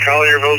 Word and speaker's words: Collierville: I'm not going to pronounce this right. Kellerville, I think that's how you pronounce it, Tennessee. Question tonight is, can you solder? Thank you, Ivan. This is from Tennessee, Collierville, Tennessee. You did a good job with that.